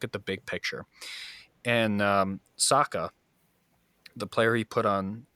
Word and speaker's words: Saka: And Saka, the player he put on, I hope I'm pronouncing his name correctly. Yes, Saka.